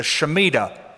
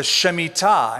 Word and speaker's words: shemitah: If you prefer the American pronunciation, the Shemitah. But it's the Shemitah.